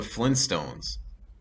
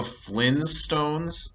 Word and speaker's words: Flintstones: does it have okay so is it the flynn's stones or is it flintstones is it not flint as in a flint stone it it is it it has two t's it's flintstones but people just say flintstones because it's easier to say i think it rolls